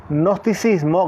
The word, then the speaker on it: gnosticismo: la definición de gnosticismo que se escribe con g gnosticismo gnosticismo se pronuncia así No es cierto el